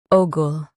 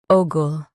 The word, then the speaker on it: ogle: Ogul. Both US and UK have the same pronunciation of this word. Ogul. Now read the syllables shown on the screen naturally. Ogul. Stress O and keep gull soft.